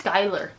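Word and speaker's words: Schuyler: like Xiao it looks like shoe eular it's skyler use cousin little song but it just do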